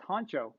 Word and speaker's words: Honcho: Oh, it's pronounced honcho. Okay, like head honcho. It's pronounced honcho, but I put a spin to it and called it huncho.